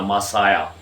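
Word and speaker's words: Messiah: इसी तरह मासाया, हज़रत ईसा अलैहिस्सलाम के जिसमें जिसे लोग अक्सर मसीह भी पढ़ते हैं, तो इंग्लिश में इसका जो प्रोनाउंसिएशन है वो मसाया।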